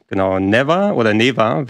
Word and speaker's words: Neva: Neva wird es ausgesprochen im Spiel, ist von dem Team, das Gris gemacht hat vorher.